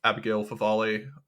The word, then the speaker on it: Abigail Favale: JP2 style theology of the body, reminiscent of Abigail Favale. Is that how you pronounce her name?